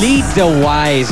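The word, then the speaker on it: Lee DeWyze: How do you say this Lee the wise lee de wise aan live yan dito sa e bulaga at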